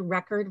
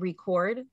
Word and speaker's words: record: look at the word record versus the word record right it's the same word but it's pronounced differently because one of them is a noun and one of them is a verb and it depends on